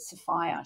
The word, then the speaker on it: Sophia: name was Sophia Mason it's like Sophia but they pronounced it Sapphire she's passed away now